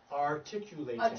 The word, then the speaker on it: articulating: Yes, remember how we talked about last week about the letter U has a gazillion pronunciations, right? In this spot, it actually sounds the way you say it in the alphabet. So it's U-V-W.